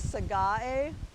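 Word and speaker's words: Sagae: with this one trying to revert this is sega a and at least that's the people in the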